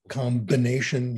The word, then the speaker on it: combination: If it's grammatic, if it's not grammatical, combination, you pronounce the B.